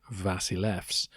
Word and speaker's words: basileus: English and Greek hence basileus as you might see it on the page uh in England or America would sound more like vasilef in Greek and yes it's definitely